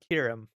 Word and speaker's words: Kierum: To pronounce my name is Kierum. Kind of like Kira, right?